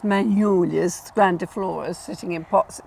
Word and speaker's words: magnolia: So we say magnolia, because we don't say soft G's like the French do, or sort of how they say them.